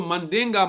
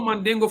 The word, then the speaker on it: Mandinga: come from mundane so mandinga mandinga in the translation lost into Mandingo I didn't know Mandingo from back home that's the American pronunciation of it which means Giant and